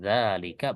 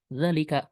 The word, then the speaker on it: ذلك: menjadi dalalika ya dan membacanya tetap panjang dalika bukan dalalika bukan Ya ini yang kita